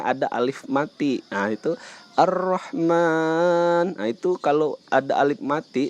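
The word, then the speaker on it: الرحمن: kata-kata ini ar-rahman ini ar-rahman ini eh ada huruf rok bertasydid itu rok bertasydid kita bacanya agak ditekankan karena kita sambung dengan huruf sebelumnya Nah di sini juga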